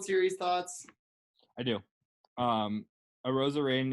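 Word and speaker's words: Arozarena: thoughts i do um a rosarian uh uh rhymes with macarena first of all second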